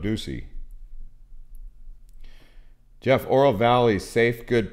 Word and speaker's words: Ducey: not know that and someone tried to say his name was doug uh pronounced doug duchy but it's doug ducey jeff oral valley safe